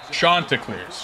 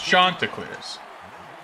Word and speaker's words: Chanticleers: They pronounce it wrong in the game, too. They say Chanticleers. Oh, no, no. I got corrected on that. Chanticleers. Chanticleers. Like you're French.